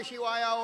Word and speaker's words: Shiva: Like you get a cough in your belly. Shiva. Yeah. Not an ah. No ah there at all.